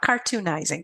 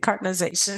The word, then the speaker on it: cartonization: Obviously love talking about supply chain sustainability and cartonization, which is, I don't think I even said that word yet. That's the term for what we do. Cartonization. Not cartoonizing, cartonization.